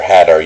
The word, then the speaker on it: Hadar: Like so for Hadar you can say Hadar or you can say Hadar. It doesn't matter. You can use both of those.